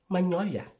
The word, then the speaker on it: magnolia: Aside from lasagna, can you think of another word that is spelled with G-N, but pronounced as nye? You have 5 seconds. 5, 4, 3, 2, 1. Magnolia.